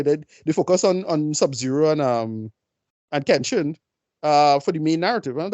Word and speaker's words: Kenshi: It's Kenshin, right? I'm pronouncing that character, right? Well, Kenshin, yeah. Yeah, right. And that's about it. No, sorry. It's Kenshi. Sorry.